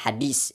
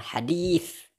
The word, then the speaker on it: hadits: Jadi dia mempertanyakannya ketika kita mengatakan "hadis", tetapi kita mengucapkannya sebagai "hadis", itu juga dipertanyakan. Nah, jika itu menjadi masalah, mengapa membacanya sebagai, apa, "hadis"? Padahal yang benar adalah "hadits".